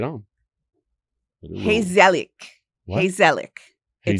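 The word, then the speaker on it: gezellig: Hazelic. Heselic. In Dutch, it's spelled G E Z E L L I G. And Hazelic is, and I love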